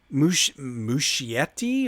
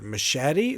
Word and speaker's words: Muschietti: Director Andy Muschietti or Machete. Sounds like it looks like it could be pronounced machete.